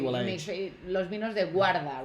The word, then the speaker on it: guarda: Los vinos de guarda, right? Is it guarda? Yeah, I always say it wrong. I say guardia. Guarda. Yeah. Guarda.